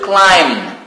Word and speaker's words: climb: The last verb to climb. And be careful here, B is a silent letter.